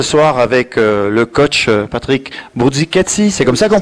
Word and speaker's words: Bruzzichessi: Bien, parce qu'on m'a dit, on prononce, peu importe, Bourdzicatsi, mais je le prononcerai plutôt à l'italienne.